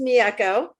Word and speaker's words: Mieko: It's actually pronounced Mieko.